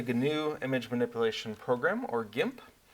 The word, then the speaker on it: GIMP: In this case, the GNU Image Manipulation Program, or GIMP. Or if you like you're pronouncing your G's differently, I guess you could do jimp.